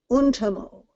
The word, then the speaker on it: Untamo: In Finnish, the major emphasis is always on the first syllable of the word. So it's always Kullervo, Kalevala, Kullervo, Untamo. All of them hit that first syllable.